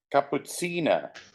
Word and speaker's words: Cappuccina: It sounds like cappuccino. Here it goes. What does it mean? I don't know. Anyway, Cappuccina is the correct pronunciation.